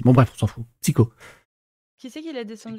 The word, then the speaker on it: Psyho: mon pseudo c'est un ça se prononce avec un K c'est un psycho c'est avec un H